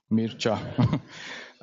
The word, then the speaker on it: Mircea: My name is pronounced like Mir, and the second half is like cha in the dance, cha-cha, Mircea.